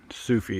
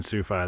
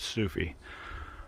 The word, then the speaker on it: Sufi: all right soufa brought me down here sufi sufi is the proper pronunciation i've been saying sufy this whole time but it's sufi um he brought me here to the trail